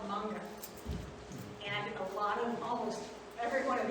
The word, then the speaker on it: manga: Manga, it's pronounced manga.